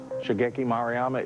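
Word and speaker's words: Shigeki Maruyama: Um, Shageki Moryama. Shaggeeki Maryama is the correct pronunciation.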